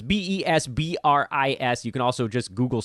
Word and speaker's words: Besbris: I am Vespris, by the way. Vespris is how you... It's written the way you pronounce it, although I guess that's relatively difficult. It's Besbris.